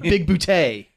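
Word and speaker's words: Bigboote: stupid like smallberries and big bout and it's spelled big booty that one's uh Christopher Lloyd by the way John John big bout oh yeah Christopher Lloyd's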